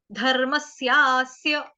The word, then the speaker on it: धर्मस्यास्य: धर्मस्यास्य, धर्मस्यास्य, धर्मस्यास्य, धर्म, धर्म होता है ना धर्म, लेकिन र पूरा नहीं है, र आधा है, रफार वाला र आधा है, धर्मस, म के साथ क्या है, आधा स जोड़ना है, धर्मस्यास्य, धर्मस्यास्य, दो स आएंगे छोटे छोटे आधे आधे, धर्मस्यास्य, धर्मस्यास्य, ठीक।